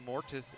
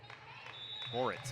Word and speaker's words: Moritz: Still Amortis into the game. Moritz, excuse me. I mispronounced that. Went dyslexia of the I and the T.